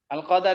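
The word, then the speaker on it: القدر: Kadang dalam bahasa Arab itu Al-Qadar itu beda dengan Al-Qadr. Kalau yang Al-Qadar itu bermakna takdir, Al-Qadar. Wa tu'mina bil qadari khairi wa syarrihi. Bil qadari, ya kan? Bil qadari, pakai fathah dalnya.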